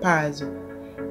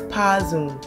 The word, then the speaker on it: Powerzone: Majority of people even mispronounce it as Powerzone. It's Powerzone.